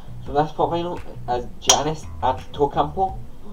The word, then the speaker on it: Giannis Antetokounmpo: So I left it a few months just to try and pronounce the name and learn the name, and I have. So this pop vinyl is Giannis Antetokounmpo. Giannis Antetokounmpo.